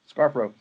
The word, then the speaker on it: Scarfo: Scarfo.